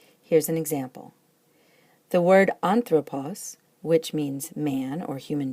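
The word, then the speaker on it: ἄνθρωπος: in the last syllable, so it's pronounced anthropos, and it has an acute on the first syllable, which happens to be the antepenult, the third to last, and that's where it likes to have that accent.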